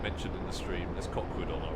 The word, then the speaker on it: Cockwood: There's Cockwood on our right. Cockwood Harbor, or as the locals say, Coco.